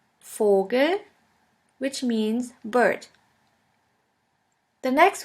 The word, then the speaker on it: Vogel: V is pronounced like the F in the word for. In German we have the word Vogel, Vogel, which means bird.